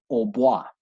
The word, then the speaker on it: hautbois: In centuries past, this instrument was actually pronounced hautbois, Hautbois, which is French for high wood.